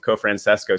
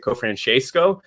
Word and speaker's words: Cofrancesco: But one interesting thing is, like, over there, they pronounce it Cofrancesco, but then when they came to the United States, they kind of dropped that, and it's just Cofrancesco now, because everyone always asks,